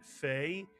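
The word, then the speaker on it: פ: With a point, it makes the P sound and it's called the pei. Same letter, take the dagesh out. The same letter is now pronounced as an English F. We call it fei. It's really a pei that makes an F sound.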